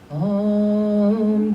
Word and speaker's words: Om: It's pronounced Om, and if you just want to repeat after me, Om, Tare, Tutare, Ture, Soha.